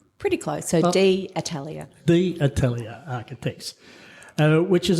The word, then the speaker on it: Atelier: Have I pronounced that correctly? Pretty close. So the Atelier.